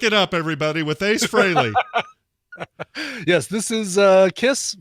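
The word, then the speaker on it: Frehley: going to hear ace fraley as i found out it's pronounced that's what um it was never freely it was never freely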